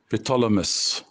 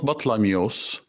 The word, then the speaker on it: Ptolemy: Ptolemy is the way how the name or this title is pronounced. Ptolemy, not Batlamyos and not Batlaimos, or not Ptolemy. The way how I pronounced it at the beginning is from the hieroglyphic cartouches, which were depicted on the walls of the temples.